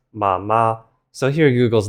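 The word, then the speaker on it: 奶奶: But in actuality, you pronounce this as nǎinai.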